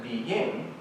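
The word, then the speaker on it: 必应: It's pronounced then Biying, wow, listen to these connotations.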